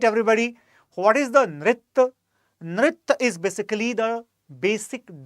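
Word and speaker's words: नृत्य: Once again, the Sanskrit pronunciation is quite essential to understand the difference. It is simply Nritya.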